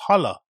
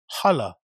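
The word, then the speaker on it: Halle: mainly speaking about this section there's also the Hal which is a much larger chamber that's on the back side of the building you pronounce it Hal I you pronounce it how Jesus Christ it's pronounced hala hala okay fair play this area is more publicly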